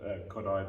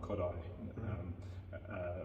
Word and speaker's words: Kodály: has an interesting aspect that every word has the accent on the first syllable. So for example, Kodály, the great Hungarian composer, Zoltán Kodály, Magyar is the Hungarian name for Hungary.